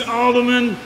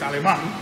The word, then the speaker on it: Aleman: mad world of Alderman, Miami Outlaw Diesel. The problem is that he can't even pronounce my name correctly. It's Aleman.